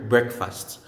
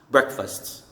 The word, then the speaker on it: breakfast: the compound word breakfast the pronunciation changes you say breakfast breakfast so silent letter a breakfast you only need